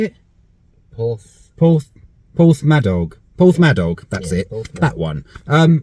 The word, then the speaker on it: Porthmadog: Porthmadog, that's it.